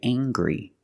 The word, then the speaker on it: angry: can say he's very angry we use the nasal sound M plus the hard G angry he's very angry